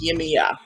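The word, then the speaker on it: Yemaya: it's spelled weirdly well for me but it's pronounced yemiya so yemiya yimiya is the mother of mankind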